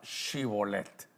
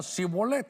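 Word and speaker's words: Shibboleth: Entonces le decían, "Di pues la palabra chibolet oiga." Pero él decía sibolet. No podía, la h no no la mencionaba porque no podía pronunciarla correctamente.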